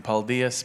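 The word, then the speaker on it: paldies: now you will have to say in Latvian paldias because everyone were struggling do this can you pronounce it properly pal diasans okay good it works I love about this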